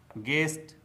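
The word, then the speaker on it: guest: तो दोस्तों, आपको भी साइलेंट लेटर यू से बने शब्दों का इसी प्रकार से प्रोनाउंसिएशन करना चाहिए।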